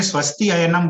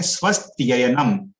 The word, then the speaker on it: स्वस्त्ययनम: तो स्वस्ति और अयनम, लेकिन अगर हम लोग श्लोक में स्वस्ति अयनम बोलेंगे तो वो सही उच्चारण नहीं रहेगा। हम लोग को एक साथ बोलना है स्वस्त्ययनम संधि करके, इदम स्वस्त्ययनम, और पुंसाम,